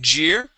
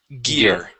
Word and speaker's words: gear: the very beginning uh you had said Geer this word is gear okay nice job all